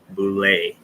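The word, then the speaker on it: boule: ever heard of boulay it's spelled b-o-u-l-e bulay and it actually goes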